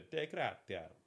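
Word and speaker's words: Dei Gratia: On December the 4th, the crew of the De Gratia.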